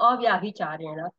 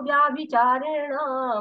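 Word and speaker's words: अव्यभिचारेण: ये यहाँ पे जो यहाँ पे ये एस बना रहता है, ये साइलेंट होता है, और यहाँ पे होता है लेकिन साइलेंट होता है। तो माम चयो व्याभिचारेण भक्ति योगेन सेवते।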